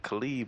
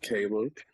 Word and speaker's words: Caleb: Khalid, man, what's good? It is Caleb. For those who never seen the name before, it's pronounced Caleb.